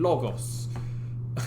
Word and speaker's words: logos: it most of persuasion with essos pathos and logos that's how those are pronounced um that had to do with credibility